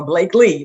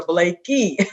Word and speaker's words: Blakey: spell it but everybody wants to call me sandra or blake lee but it's blakey what else you can